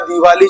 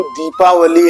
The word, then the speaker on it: दीपावली: सबसे पहली बात तो हम लोग जो दीपावली या दिवाली शब्द का उच्चारण करते हैं वो ही गलत है। इस त्यौहार का नाम दीपावली है जो दीपों की वली से बना है यानी कि दीपों की कतार और सामान्य भाषा में